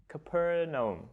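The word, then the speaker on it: Capernaum: John were fishermen in a town called CAP capernum capernum capernum yep I was looking up how you pronounce that this morning morning so it was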